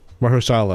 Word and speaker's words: Mahershala: Mahershala.